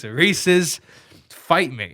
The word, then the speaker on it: Reese's: appalled everybody in the midwest calls it reese's oh you idiots it's reese's pieces oh it's it rhymes do you think it's